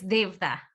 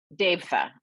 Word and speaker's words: Devatha: But I want to introduce everybody to Devatha. That's how you pronounce it, right? Hi, it's Devatha. Devatha.